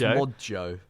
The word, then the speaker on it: Modjo: It's Modjo. Yeah, I think it's meant to be pronounced Mojo.